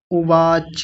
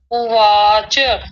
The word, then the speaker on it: उवाच: धृत राष्ट्र उवाच उवाच नहीं उवाच च को पूरा करेंगे। धृतराष्ट्र उवाच।